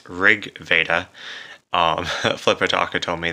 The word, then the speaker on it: RG Veda: back to LG Veda which it's actually pronounced Rig Veda um flipper doctor told